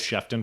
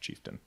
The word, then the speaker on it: Chieftain: I mean, well, Chieftain was from the '60s, but still, I thought it was Shefton for a long time. It's actually Chieftain.